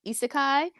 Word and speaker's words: isekai: So now we're entering isekai. Is that how you pronounce that?